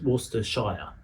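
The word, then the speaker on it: Worcestershire: Shiers are not pronounced shia they're pronounced sh. One of the best known one is worester but it's worester shire.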